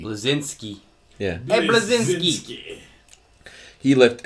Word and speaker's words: Bleszinski: Cliff Bleszinski. Bleszinski. Bleszinski.